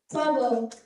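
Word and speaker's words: pueblo: Pablo. Pablo. Am I pronouncing it correctly? Pablo.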